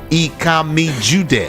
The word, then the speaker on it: Ikami Jude: Ikami Jude. On social media, all of them, just check. Ikami Jude. It's spelled IKAMIJUDEH.